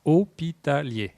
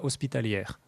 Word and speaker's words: hospitalier: termine par une consonne, la consonne n'est pas prononcée, donc hôpitalier et non pas hospitalière ou lière.